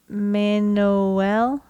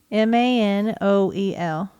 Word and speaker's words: Manoel: So I got Manoel. Manoel. M-A-N-O-E-L. Manoel. Oh, Manoel. Pereira de Cruz. Okay. And Miguel José Viana. I think you got that one right. Yeah. Manoel was 32.